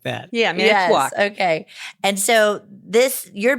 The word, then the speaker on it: Manitowoc: Manitowoc. Manitowoc. Wisconsin. Yes, like that. Yeah, Manitowoc.